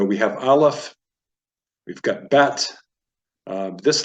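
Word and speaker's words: ב: can appear in it if if there's no dot you'd pronounce it that and then bet if it has a DOT and don't worry everything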